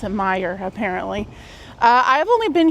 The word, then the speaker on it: Meijer: the west coast and we do not have Meyer out there. So when we first moved here and I read it for the first time, I thought it was major and then everybody's like, "Oh, it's you can